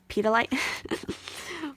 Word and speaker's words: petalite: third eye and so this is how you say this petalite pedolite petalite so let's see what this